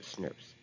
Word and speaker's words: snRNP: called snrnps which is small nuclear ribonucleoprotein particles pronounced snurps each spliceosome consists of